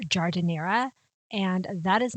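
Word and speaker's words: giardiniera: this because google let me down it's actually pronounced jardinera and that is not what google led me to believe when i first asked google said gardenia which sounds like the flower to me but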